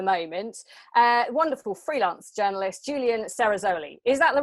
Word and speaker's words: Cerasoli: Yeah, well done, Cerasoli. This surname comes from Italian language, and in Italy, they are very confused about it. Some people say Cerasoli, some people say Cerasoli.